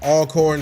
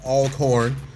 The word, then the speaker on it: Alcorn: This is my guy, former student, graduate of Alcorn State. I gotta say it right, Alcorn, not Alcorn. I used to say Alcorn.